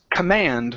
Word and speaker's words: command: Okay, now that last word is pronounced command with the stress at the very end.